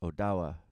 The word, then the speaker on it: Ottawa: It is found in the heart of our country, in Ottawa, originally pronounced Odawa or Ottawa.